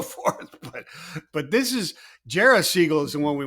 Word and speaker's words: Jerah: week it's uh it's Jara seagull and uh we we like discussing how to pronounce his name because I first called you JRA um and then we